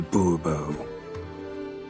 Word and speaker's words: Bobo: Bobo fine Monsieur de Bobo the emphasis falls on the last syllable see now I'd rather